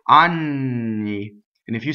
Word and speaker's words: anni: a woman who is 15 years old right on me and if you say Ani its anuses okay so